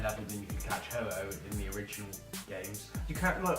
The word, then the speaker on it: Ho-Oh: It took me about 3 years before I could pronounce it properly. Ho-Oh. Yeah, I kept saying hoo-hoo.